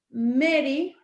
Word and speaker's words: Mary: estaba muy enojada porque en vez de decirle mary sus nombres decían mar y claro porque en realidad se escribe mari m a r y pero se